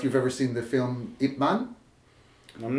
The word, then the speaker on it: Ip Man: After Bruce Lee came to the United States, Ip Man continued to teach in Hong Kong, and his last student was my grandmaster.